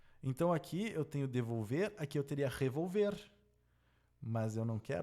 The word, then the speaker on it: devolver: Onde é que está a sílaba tônica? Devolver. Aqui, ó, devolver. A sílaba tônica é a última, então ela é uma oxítona.